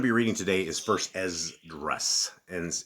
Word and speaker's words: Esdras: The book we're going to be reading today is First Ezras, and it's spelled E S D R A S.